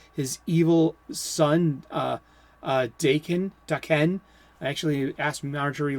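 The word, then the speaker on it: Daken: actually his uh his evil son uh uh dakin dakhen i actually asked marjorie liu how do i pronounce his name it's da ken so if you want to know how to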